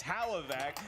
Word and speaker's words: Hlavac: Adam can't even pronounce his last name properly it's hallo vac and then when you